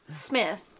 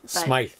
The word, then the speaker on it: Smythe: Not Smith. Yeah. It's definitely not Smith. Smythe.